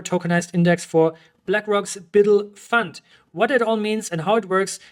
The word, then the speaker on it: BUIDL: black rocks bid fund it's spelled buidl but I'm just going to call it build fund because because Biddle is hard on my tongue and anyways this marks